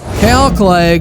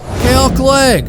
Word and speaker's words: Clague: and maybe why did this guy's name which rhymes with plague find himself on waivers well let's start with the basics calc leg or as eric cartman